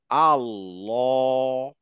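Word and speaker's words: الله: লামের উচ্চারণে সেটা হচ্ছে লাম যখন আল্লাহ শব্দ উচ্চারণ করি আমরা তখন গিয়ে এই লামের উচ্চারণটা একটু ভিন্ন হয় দেখেন নরমালি যখন লাম উচ্চারণ করছি আমার জিভের পিছনের পার্টটা নিচের দিকে তাই না কিন্তু জাস্ট ওয়ার্ড আল্লাহ এই আল্লাহ ওয়ার্ডের ভিতরে যখন আমি লামের উচ্চারণ করছি তখন এই লামের উচ্চারণটা একটু উঁচু হয়ে যাবে হ্যাঁ আল্লাহ জীবটা গোল হয়ে উঁচু হবে আল্লাহ হ্যাঁ এটা শুধুমাত্র হচ্ছে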